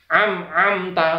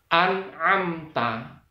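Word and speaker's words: أنعمت: salah salah salah besar yang benar adalah sirotol ladzina an amta am ada mim sukun itu minimnya dibaca jelas tidak boleh ada buntutnya tidak boleh ada ekornya tidak boleh ada dengungnya ini contoh yang salah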